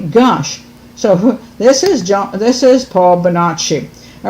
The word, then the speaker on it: Bonacci: Okay, there's 2 ways to pronounce his name. In the documentary, a lot of times they say Paul Bonacci. She says Bonacci. I heard other people pronounce it Bonacci, which I think is more Italian. I personally think it's Bonacci, but then I don't know.